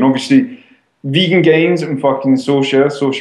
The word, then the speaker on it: Saoirse: And obviously, Vegan Gains and fucking Saoirse rhymes with Porsche. I always struggle with that fucking pronunciation. Saoirse Morava rhymes with Porsche and lava.